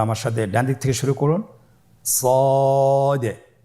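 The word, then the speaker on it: ص: মোটা হরফ উচ্চারণ ক্ষেত্রে মোটা করে পড়তে হবে এবং উচ্চারণ করার সময় তিন আলিফ টেনে পড়তে হবে আপনারা আমার সাথে বলুন সদ আবার বলুন সদ আলহামদুলিল্লাহ খুবই সহজ সদ হরফের মাখরাজ কোন জায়গা থেকে উচ্চারিত হয়?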